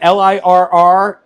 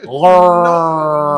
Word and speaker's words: LIRR: The LIRR is pronounced by saying the letters, not lur.